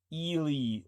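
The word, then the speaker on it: Ehle: They say it's pronounced Ili, like Feely, okay?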